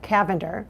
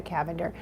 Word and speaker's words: Cavender: media, I think Rebecca Cavender, it's spelled like lavender, but with a C, Rebecca Cavender.